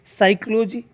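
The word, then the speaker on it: psychology: उच्चारण नहीं हुआ है साइकोलॉजी में पिच से शुरू होता है भी साइलेंट है नॉलेज में कि व्यतीत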